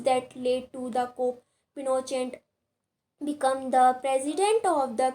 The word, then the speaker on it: Pinochet: General Augusto Pinochet, pronounced by Pinochet, and Army General led the coup.